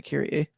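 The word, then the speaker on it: Kyrie: it's spelled KY r i e but they pronounced it kir okay it's going to be like I'm going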